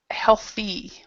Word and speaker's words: healthy: Okay, so remember this, healthy. So remember to pronounce the E part.